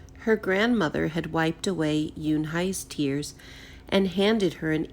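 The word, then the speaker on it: Unhei: I corrected it spelled you and hei it's pronounced Eun Hye oh it's you and hey the boy said like you hey what about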